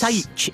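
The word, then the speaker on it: Saith: It's spelled S-A-I-T-H. S-A-I-T-H. S-A-I-T-C-H. We still can't spell either of us. Saich. Is Saich.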